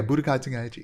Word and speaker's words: Budokai Tenkaichi: Yeah, Budokai Tenkaichi.